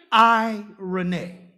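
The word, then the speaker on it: εἰρήνη: the word irony irony if you want to spell it foot phonetically I - Ari why - and then not Sinead but nay in a way I Rene when Jesus said peace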